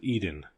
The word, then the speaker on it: Eden: The word was Eden, to rhyme with seed in.